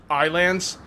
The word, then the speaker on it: Ylands: like I always liked Wiley and that's pretty weird right and I kind of looked into it the developers said it's it's pronounced Islands kind of like Islands so anyway all right